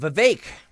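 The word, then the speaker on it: Vivek: right bye-bye yep uh vake rhymes with cake oh boy was on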